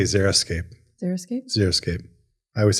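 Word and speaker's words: xeriscape: wrong this whole time I thought it was like x e r i zeroscape yeah I think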